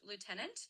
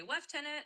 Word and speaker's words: lieutenant: So that word is pronounced lieutenant. In British English, they often say lieutenant, and in American English, it's lieutenant.